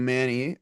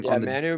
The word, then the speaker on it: Manu: You got Theo Benedict on the Chicago Bears that played at UBC and Giovanu Manny I believe that's how you pronounce his name. Manu Manu Manu on the Detroit Lions out of UBC.